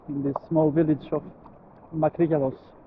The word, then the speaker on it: Makrigialos: Let's see what they have here in this small village of Makrigyalos. Actually, it's pronounced Makrigyalos in Greek.